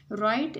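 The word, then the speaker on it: write: राइट में डब्ल्यू जो है ये हम लिखने में इसको ज़रूर लिखेंगे, लेकिन जब हम इस वर्ड को प्रोनाउंस करेंगे तो फिर डब्ल्यू साइलेंट रहेगा.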